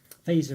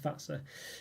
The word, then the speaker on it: Fazer: You have to Fazer, as we'd say, but I believe it's pronounced Fazer.